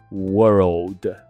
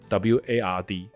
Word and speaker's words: world: ，所以它的读音是 world world，那后面再次是 word。那我们台湾人常会把它念成 WARD word，有时候我们会问